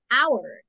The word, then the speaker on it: hour: Entonces, es como que la palabra la comencemos a decir con la O, hour. Entonces, an hour. Aunque lleve consonante. Pero como no suena, an hour.